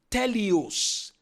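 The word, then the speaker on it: τέλειος: It's from the Greek word teleos. Teleos is spelled t e l e i o s.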